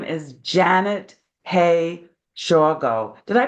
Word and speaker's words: Shawgo: fun guest today her name is Janet hey Sho did I pronounce that right yes excellent and and hey